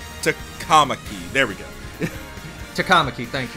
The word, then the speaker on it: Takamaki: Alright, then I'm gonna be red for An Tamaki. Takamaki.